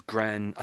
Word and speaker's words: grandee: Um, so I want to say grandi, but it's grand. I think we say grandi. Yes, grand. In English, we say grandi, grandi, grandi.